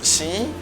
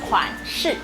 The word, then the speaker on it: 款式: 新 Oh, that's a good try. 新衣 means new clothes. Actually, we say 款式.